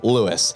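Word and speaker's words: Lewes: far L which is what out ofers call Lewis it's spelled how it sounds Lewis and it is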